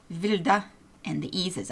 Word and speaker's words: Wilde: It's German, and they pronounce W's as a V, so it's Wilde, and the E's is a, so it's Wilde.